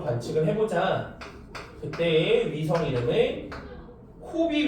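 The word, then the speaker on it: COBE: 그때의 위성 이름을 코비 위성이라고 읽어요. 그다음에 W맵이라고 읽습니다. Cob는 코비. 그다음에 WMAP는 W맵 위성이라고 읽는데이 두 개의 위성들을 우주로 쏴서 얘네들은 우주 마원경이죠.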